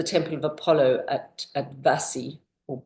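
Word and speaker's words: Bassae: Um, this is the temple of Apollo at at Vassi or Bassie as it's spelled with a B but pronounced Vasi.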